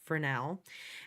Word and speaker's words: Fresnel: it says fresnel um I know it's spelled f-r-e-s but it's pronounced fresnel and notice that it's